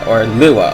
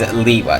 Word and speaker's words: Lewa: Finally, we come across Lewa, or Lua, or however you want to pronounce his name. I'm pronouncing him as Lewa, since that was how he was pronounced in the movie and in the animations.